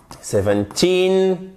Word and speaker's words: seventeen: sixty seventeen eighteen nineteen pourquoi j'insiste comme un malade sur l'accent tonique à la fin au moins je suis sûr vous en souvenez parce que ici pour toutes ces unités on a l'accent tonique sur la fin et souvent en fait